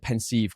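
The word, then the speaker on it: Pensieve: it the pens pensive I always said pensive growing up but I think that's just my britishness having to pronounce every syllable the pensive and like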